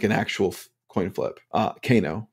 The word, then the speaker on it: Kano: actual coin flip uh Kano for for those uncultured and don't know how to pronounce his name um but canoe um